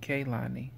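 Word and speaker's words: Kehlani: say 34 is Kalani I don't even know if that's how he said Kalani's name I think she says it kailani number 35 is Khalid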